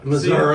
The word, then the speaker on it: Missouri: Missouri.